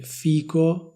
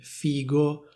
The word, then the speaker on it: figo: Anzi, vi dirò la verità, ogni volta che sento qualcuno che dice fico invece di dire figo, provo una sensazione atroce. Comunque sia, potete dire come volete, potete dire figo oppure potete dire fico.